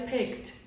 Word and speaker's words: picked: Ó, ele tem o final, ele tem o som de K, ele é bem sutil, então ele vai ter o som de T. Novamente, como a maioria das vezes, o E você não vai falar. Então, seria picked, picked.